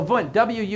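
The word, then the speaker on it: Wundt: James but we'll give V credit so V Wu n DT it was German so it's pronounced V even though it starts with a w Wu n DT I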